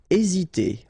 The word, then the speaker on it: hésiter: Hésiter. Okay, remember that H doesn't exist, so we don't pronounce it, and the first thing you will pronounce is this vowel here, E accent aigu, E.